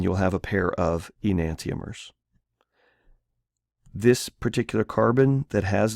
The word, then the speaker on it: enantiomer: And this particular kind of isomer is called an enantiomer. So that's how you pronounce that word. It's five syllables: e-nan-ti-o-mer.